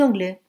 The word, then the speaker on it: anglais: Je suis professeur, mais je suis anglais. La raison est très simple. Avec les mots qui commencent par une voyelle, on fait la liaison pour avoir une prononciation plus facile.